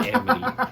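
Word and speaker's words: Aamity: know there's a y am sounds like an e it's spelled weird but it said Amity if you type in a a m i t y it will say Amity but all right all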